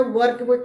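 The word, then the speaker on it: work: उसी प्रकार वर्क कहते हैं, वर्क नहीं कहते, वर्क कहते हैं।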